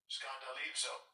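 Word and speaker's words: σκανδαλίζω: Scandalizo. And it sounds like the word scandal, but it says to entrap, trip up, stumble, entice to sin, apostasy or displeasure, offend.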